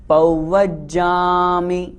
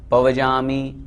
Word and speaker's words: पव्वज्जामि: को चेतावनी सरणं पव्वज्जामि शुद्ध उच्चारण करें पव्वज्जामि बहुत से लोग पव्वज्जामि पजामी इस तरह बोलते हैं वशीभूत हो जाता